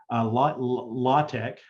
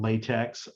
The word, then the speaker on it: LaTeX: Or you might even have some advanced scientific language, LaTeX, also called latex. I pronounce it LaTeX.